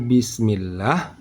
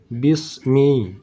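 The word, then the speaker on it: بسم الله: orang ada kita mendengar orang membacanya Bismi Bismi huruf sinnya sudah tebal dibaca desis angin dari huruf Sin sudah tebal itu salah karena ini huruf sin bukan huruf Shad kalau kita baca bis bis Bismillah di situ bukan lagi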